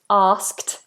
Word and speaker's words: asked: difficult word to pronounce we have a nice big open vowel r r see my